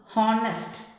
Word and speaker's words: honest: See the next one, honest. Honest, it starts a consonant H. See the sound how we are pronouncing honest. It gives O sound.